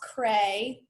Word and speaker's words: Creagh: So our name is pronounced Creagh, but it's not spelled like that.